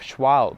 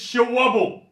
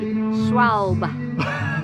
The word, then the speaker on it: Schwalbe: And can I just say on the pronunciation of Schwalbe? What are you talking about, you idiot? It's Schwabble. Schwabble.